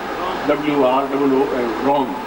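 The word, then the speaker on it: रौं: बोले ओम रॉम, इसमें शुद्ध उच्चारण समझ रॉम बोल रहा हूँ, WROOM रॉम। ओम रॉम श्रीम क्लीम ओम। सब जगह म की ध्वनि है, ग की ध्वनि कहीं पर नहीं है।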